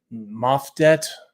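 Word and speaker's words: Maat: and she summons uh powers of the goddess Maet. That's how you pronounce it.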